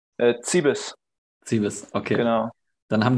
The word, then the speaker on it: Cibis: Wie spricht man deinen Nachnamen aus? Zibis.